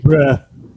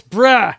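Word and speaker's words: Brühl: Is it Brule? Is it Brol? Is it Bruell Kruella? I don't know. You tell me what it is. Let's see. Bruh. It's Bruh.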